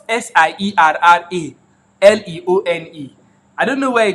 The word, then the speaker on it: Sierra Leone: know it is spelled s-i-e-r-r-a l-e-o-n-e I don't know where I come to CD alone you need to you need to speak that right I think it's like Sierra Leone bro I know right